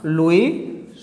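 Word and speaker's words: Louis: France का राजा था लुई 16वां, लुई 16वां। France भाषा के अंदर क्या है, फ्रेंच भाषा के अंदर जो लास्ट वर्ड है वो मोस्टली क्या है, साइलेंट रहता है।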